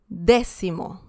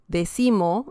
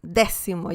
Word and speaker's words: décimo: Décimo, décima. So that's the correct pronunciation. Please don't say decimo, decimo. No, décimo, décimo. You have to emphasize the first 2 letters, or rather the letter E.